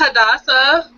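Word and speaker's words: Hadassah: new guest here thata I'm sorry it's hadasa hadasa hadaa great to have you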